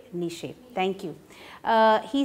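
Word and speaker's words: Nietzsche: his name pronounced right the german philosopher nazi i hope nishi thank you he said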